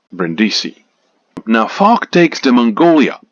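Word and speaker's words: Brindisi: the south of Italy to the place called brendisi now ful takes to Mongolia a steamer lunr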